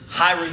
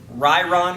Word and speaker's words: Ryron: got Andre galvao versus hiring Gracie or uh your pronunciation is off ryron Gracie right right Gracie um